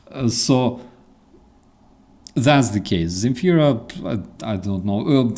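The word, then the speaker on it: Земфира: She can call herself Zemfira like in Deutsch, all right? In Deutsch, she can literally write her name starting with the S, all right? She will be still pronounced as Zemfira anyways, which, by the way, is a good solution.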